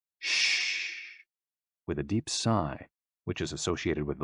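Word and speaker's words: 呬: shh, with a deep sigh, which is associated with the liver. HE, pronounced like her, with a yawn, which is associated with the heart. SI, pronounced like sir, with a slow exhale, which is associated with the lungs.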